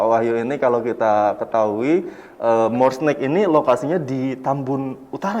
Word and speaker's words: Morsnack: Bagaimana pelafalannya More Snack? More Snack.